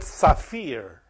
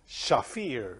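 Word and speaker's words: שפיר: It's called Shefir. They said Saphir, But I like Shafir because it's with Shin.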